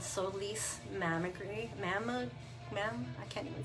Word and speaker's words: Solis: And I loved that the play on the words was Solis. I'm probably saying it wrong, but I pronounce it with the Spanish accent because I'm Latina.